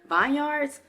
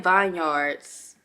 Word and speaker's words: Herbal Vineyards: video today's video is actually sponsored by herbal Vineyards hear me out I was saying Vineyards but somebody told me it was Vineyards then